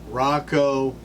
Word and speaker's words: Rakau: try is Rocco Hobbs he actually said it's pronounced like this Rocco Hobbs he actually phonetically